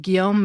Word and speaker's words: Guillaume: It covers the first 24 hours of D-Day in 12 episodes, sharing stories from fascinating, little-known figures like Guillaume (gee-ohm, G like in guy) Mercader, ("MARE-cuh-day."